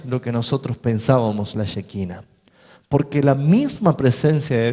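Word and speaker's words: shekinah: Ahora, esa luz manifestada de la gloria de Dios se llama, es una palabra hebrea, se llama shequina. Shequina. Se escribe así. S e h k i n a h.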